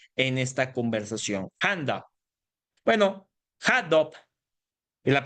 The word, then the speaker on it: Hadoop: Bueno, HandUp, en la pronunciación adecuada, es un software diseñado precisamente para